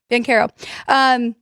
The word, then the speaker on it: Banchero: Orlando Magic, and I know I say his name wrong. Is it Paulo Banchero, right? Banchero? Paulo Banchero. Okay, Banchero.